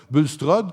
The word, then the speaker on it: Bulstrode: On voit cette fameuse, c'est la rivière Bulstrode, qu'on prononce exactement, et la rivière Nicolet de l'autre côté.